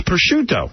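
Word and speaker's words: prosciutto: It's pushuto.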